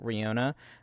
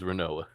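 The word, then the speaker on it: Rinoa: falls in love with Rihanna, uh, Hartily Hearty. That one I won't give you. That one's Renoa.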